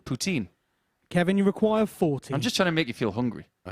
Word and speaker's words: poutine: It becomes routine. Which rhymes with the Canadian for cheesy chips. 40. Poutine.